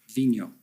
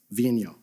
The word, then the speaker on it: Vigneault: We've all been debating about how to pronounce it properly. Vigno. Vigno, all right.